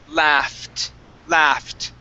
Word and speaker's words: laughed: The GH in this word create an F sound.